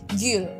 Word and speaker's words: gül: sama aja bir kemudian GL yang u yang ada titik dua di atas bacanya bibirnya dimonyongin Gul jadinya kahraman erkema bir